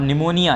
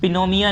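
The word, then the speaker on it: pneumonia: और निमोनिया, ये पिनोमिया नहीं है, पिनियोमिया नहीं है, ये पी साइलेंट होता है, निमोनिया पढ़ते हैं।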